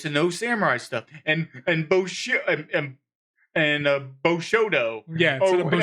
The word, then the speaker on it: Bushido: know samurai stuff, and Bushido. Yeah, or instead of whatever. Bushido, it's They Bushodo. They mispronounce it twice, but in different ways. Yeah, well, the one was Bushido. It was Bushido, Bushodo, and Bishodo.